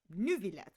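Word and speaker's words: Neuvillette: So Lenny, they all pronounce it Neverlet, but Nouvlet himself says Nuvlet.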